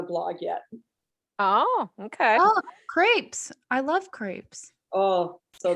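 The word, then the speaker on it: crêpes: important for making crepes. Crepes. Oh, I did not know that's how you pronounce crepes. Hoity-toity over here. It's the French pronunciation.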